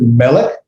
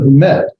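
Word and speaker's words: מֶלֶךְ: That's going to tell me that pronunciation is at the beginning of the word, or the accent is at the beginning of the word. Someone accent the melech.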